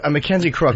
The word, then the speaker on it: Mackenzie Crook: Mackenzie Crook, right? That's how you say his name.